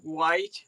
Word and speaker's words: white: We pronounce a lot of the H's. It's a funny old accent, I always say, because we do a lot of the H's in things.